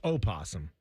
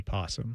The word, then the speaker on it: opossum: Is it possum or opossum? It's opossum. Because I've heard it both ways. Well, it's spelled opossum, but most people just say possum.